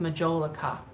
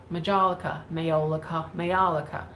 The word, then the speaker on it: majolica: I ran into that problem with majolica, Mayolica. Depending on where you are in this country, and if you're in the other country that it started in, you say it a different way.